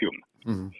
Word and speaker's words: Home: Se escribe Home, pero se pronuncia Hume.